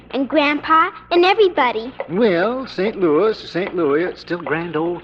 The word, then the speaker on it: St. Louis: me Mr Castello but it's pronounced St Louis that's funny now take